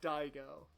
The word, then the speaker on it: Daigo: those are your three options Dixon Brown or die go and I go is spelled dai Geo so who do the people